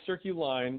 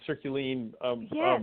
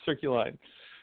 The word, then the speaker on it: Circuline: It is Circuline, like circles and lines. But people in France and Europe tend to pronounce it Circuline. But no, it's Circuline.